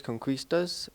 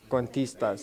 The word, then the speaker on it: Cuentistas: We are New Mexico Youth Art Ambassadors, Conquistas, and this was dedicated to our friend Tawny K. Let's say that one more time, though. Cuentistas.